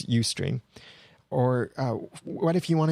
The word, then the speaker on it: Ustream: And it's pronounced Ustream, by the way. I heard someone pronounce it Ustream, but it's Ustream.